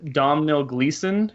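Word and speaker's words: Domhnall Gleeson: uh I guess it's Domino Gleason is how you say his name he's been doing a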